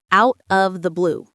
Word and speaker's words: out of the blue: In natural American English, the T in out often becomes a soft D sound and the words link together. Out of out of the blue.